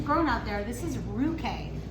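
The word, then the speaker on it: Ruchè: This is Ruche. It's spelled R-U-C-H-E, but just remember that C-H makes a K sound in Italian.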